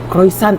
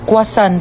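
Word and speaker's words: croissant: Croisant daw. Croisant? Ah kwasant po.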